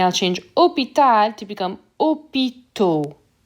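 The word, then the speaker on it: hôpitaux: change opitar to become opito so this aux sounds like o le travail work becomes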